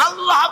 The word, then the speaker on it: আল্লাহ: আল্লাহ আল্লাহ পাকের উচ্চারণটা হচ্ছে আল্লাহ পাকের নাম হচ্ছে আল্লাহ মুখটা একটু গোল হয়ে যাবে বলেন আল্লাহ